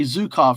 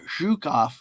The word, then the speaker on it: Zhukov: Help me with the pronunciation because and I know I didn't say zukov, right? It's zhukov.